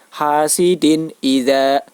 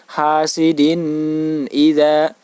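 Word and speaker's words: حَاسِدٍ إِذَا: hasidin idza dan berharakat kasrah tanwin bertemu dengan huruf hamzah maka apabila terdapat tanwin bertemu dengan huruf hamzah maka dinamakan bacaan izhar cara membacanya yaitu wajib dibaca jelas hasidin idza hasidin idza jadi tidak boleh dibaca dengung misalnya hasidin idza begitu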